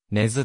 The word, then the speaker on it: 根津: 方であるが頭にアクセントを置いた根津と周辺では発音されており根津駅の車内放送もこれに則っている 2019 年 8 月